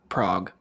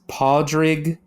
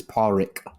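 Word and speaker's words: Pádraig: say his name is Prague Prague no it's podrig or you can pronounce it as Paul Rick I mean I try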